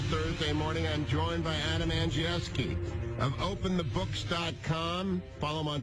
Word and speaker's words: Andrzejewski: It's spelled like it's from, like my friends from the old town, and you pronounce it Andrzejewski? Perfect. It's absolutely perfect.